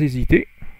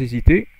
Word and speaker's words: hésiter: Et sans hésiter, so again, liaison, H is not pronounced, enfin, you don't, it's not a H aspiré. Et sans hésiter, Blake, le couteau au poing, plonge à son tour.